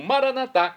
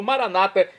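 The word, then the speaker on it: maranatha: onipotente onipresente e agora eu clamo maranat como dizemos nós católicos ou Maranata como dizem nossos irmãos separados os evangélicos ou protestantes não importa pronúncia o significado é o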